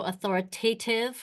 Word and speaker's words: authoritative: So authoritative, remember, rhymes with give.